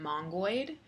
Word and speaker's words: Mongoid: rails also i use the gem mongood which is spelled like with oid at the end um in order to